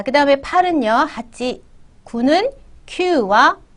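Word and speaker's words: 九: 지금 숫자 만들게 하실 때는 q로 기억을 해 주세요. 그리고 쿠라는 애는 뭐 나중에 뭐 날짜 9월 달이라는 표현이라든가 아니면 9시 9지라든가 이렇게 꼭 구여야만 되는 어 발음이야 되는 때가 있습니다. 이제 그때 또 다시 얘기드릴게요.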